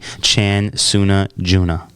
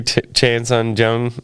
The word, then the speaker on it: Chan Sung Jung: 23-7-1, going up against the 15-5 Korean zombie Chan Suna Juna. I know it's not how you say it. Yeah, the Korean zombie Chan Sung Jung got what?